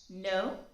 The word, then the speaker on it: know: go without being pronounced for example k in no and w in right they are not pronounced yet they have to